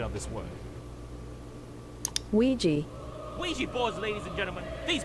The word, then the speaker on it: Ouija: data analyst expert to give us the proper pronunciation of this word Ouiji Ouija boards ladies and gentlemen these boards were named